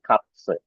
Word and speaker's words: Katze: Jadi meine Katze, meine Katze. Gitu ya. Jadi ini bunyinya tadi ya, huruf Z tadi kan set tadi kan. Nah, jadi Katze gitu ya.